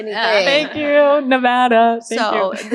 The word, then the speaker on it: Nevada: I don't call out that Nevada is Nevada and not Nevada, then somebody somebody else